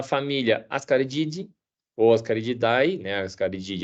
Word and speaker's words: Ascarididae: Ascarididae é a pronúncia correta, subfamília Ascaridini e o Ascaris.